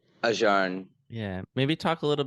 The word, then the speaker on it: Ajahn: How do you pronounce it? Ajahn? Ajahn.